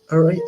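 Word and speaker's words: areíto: people, known for a style of music called Arato. That's how you pronounce it.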